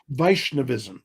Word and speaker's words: Vaishnavism: So tell me some more about uh how do you pronounce it? Vaishnavism. Is that correct? Vishnavism.